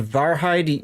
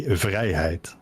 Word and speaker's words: Vrijheid: the tier 8, and I called it the Varheid. You say it's pronounced better somewhere else, right? We in the Netherlands say vrijheid. Vrijheid. That's a lot closer, yes. Okay, cool.